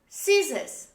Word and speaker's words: scissors: we say scissors scissors in both cases the letter c is dropped in the pronunciation of these words the next letter letter